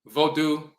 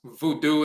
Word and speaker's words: Vodu: a descriptive um title the term vodu also pronounce Voodoo and so forth that